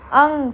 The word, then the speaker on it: अंग: यहां पर आपको ध्यान देना है। बहुत लोग अम बोलते हैं। म नहीं है लास्ट में। न की आवाज है। यानी कि आप अपने नोज को यूज कर रहे हैं।